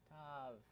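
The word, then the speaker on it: תו: Tav. Or Tao. Some people pronounce it Tao, right? Yeah, some people, but not really Hebrew speakers.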